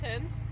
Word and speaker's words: Himz: It's Himz. Himz. Himz. How do you Hens, like hens.